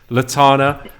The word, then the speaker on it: Lotanna: Lotanna is joining us. Am I pronouncing that right?